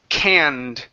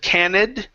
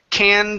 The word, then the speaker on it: canned: go to the word canned this is an ED ending instead of candid the word is canned food can fool mm-hmm